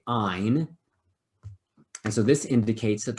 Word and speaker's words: yne: gets switched to yne which is pronounced like a long i ein and so this indicates